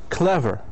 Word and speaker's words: clever: in the first syllable, like the word clever. Clever. Okay. Clever is an adjective. It has 2 syllables, and the stress must be located on the first syllable.